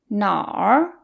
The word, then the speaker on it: 哪儿: 哪儿 is technically two characters, 哪 and r. We merge them together into 哪儿.